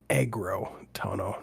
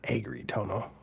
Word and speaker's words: Agrotono: It it it's agro tono, not agri tono.